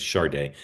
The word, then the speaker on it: Sade: He talking about Sade or Sade?